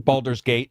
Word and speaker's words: Baldur's Gate: Baldur's Gate with Iron Man. I'm just joking. You're not pronouncing it wrong. Baldur's Gate.